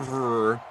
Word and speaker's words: Favre: Well, Brett Favre reverses the V and the R. Favre.